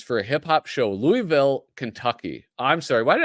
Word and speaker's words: Louisville: It's pronounced Louisville. I know that. I'm sorry, Crash. My Midwestern accent overtook me. Louisville. I thought it was Louisville. Hi, I'm traveling to Louisville.